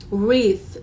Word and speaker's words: wreath: e a t h so you write like that but then you just say with and then remember because has th sound so you just put your tongue between the teeth and then you say with with okay the next word